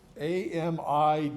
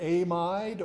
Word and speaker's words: amide: AMIDE. You can pronounce that either amide or amide. Either way is fine.